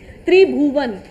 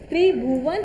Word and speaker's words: त्रिभुवन: सन का नाम है त्रिभुवन टी आर आई बी एच यू वी ए एन ए त्रिभुवन और त्रि भुवना बट ए इ साइलेंट ठीक है नंदी गुप्ता